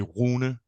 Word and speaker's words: Rune: In Danish, it would be Rune. So the R is pronounced like in German. The Danish R is like in German or French, so it's like Rote Reichskanzler.